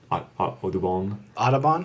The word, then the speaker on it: Audubon: Audubon? Audubon, like the Audubon Society.